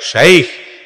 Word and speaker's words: শায়েখ: ভাইরে শায়েখ শাইখ দুইটার যে কোনো একটা বললেই হয়ে যাবে, আরবির উচ্চারণ বাংলায় হুবহু একেবারে মিলানো যাবে না।